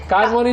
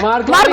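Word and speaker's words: Marconi: नहीं, कार्मोनी नहीं है, मार्कोनी है। गलत जवाब था आपका, मार्कोनी।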